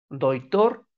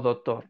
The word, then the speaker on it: doctor: Pero sabemos que la verdadera pronunciación o la correcta pronunciación es la letra es con doctor, con la letra C.